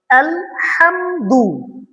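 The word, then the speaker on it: الحمد: আলহামদু আলহামদু এখানে ছোট হা করা যাবে না। এখানে আমাদের হুত যেটা বড় হা আছে এটা উচ্চারণ করতে হবে।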